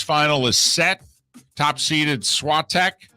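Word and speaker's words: Świątek: top seeded swat tech is that how we're pronouncing your name that's how you and i thought we were elongated it during this tournament i elongated it the last three letters are t-e-k how do you elongate the the a.i they're kind of stretching out the two vowels together is what i've been hearing all right i'm not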